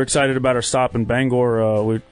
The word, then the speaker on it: Bangor: about our stop in Bangor. Hey, you said it right too. Yeah. Get a lot of banger.